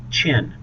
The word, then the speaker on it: Qin: Notice how it's pronounced, Qin, but it's spelled Q-I-N.